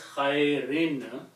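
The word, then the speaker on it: خير: So the word will be pronounced as khairin because of the B, even though the B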